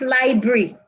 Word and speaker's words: library: Library, not library. Library, it has 3 syllables.